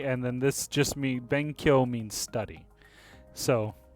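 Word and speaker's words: benkyō: Benkyo. Oh yeah, it's yo, isn't it? Yeah. Ben Kyo. And then it would just have a long U sound, right? Because of the. No, it's elongated O, remember?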